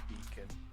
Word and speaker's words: pecan: See, technically speaking, both being Starlight are British, so we can get away with saying beacon. Yeah, because that's the British pronunciation of pecan.